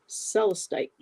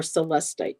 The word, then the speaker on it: celestite: And I have a crystal here too that's beautiful for that, and it's called celestite or celestite, depending how you want to pronounce it.